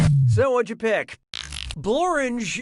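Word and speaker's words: Blorenge: so what'd you pick bloringe is a real place and it really rhymes with orange but if you visit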